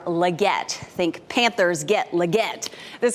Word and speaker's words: Legette: Carolina Panthers select Xavier leate wide receiver South Carolina that was NFL commissioner Roger Goodell with a hard time pronouncing the name it's actually Xavier Legette think Panthers get Legette